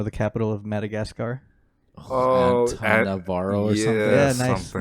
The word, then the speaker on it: Antananarivo: Antananarivo or something like that? It's Antananarivo. Antananarivo. Antananarivo. Yeah, I always mix up the middle syllables in that.